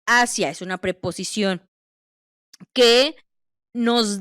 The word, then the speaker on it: hacia: Entonces, no dice asía porque no es del verbo hacer, es ascia.